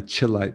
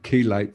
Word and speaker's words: chelate: Chelation, basically, well, the word chelation or chelate, you might say chelate, but it's actually pronounced chelate for some reason, means chlor, you know, the word chlor in Greek.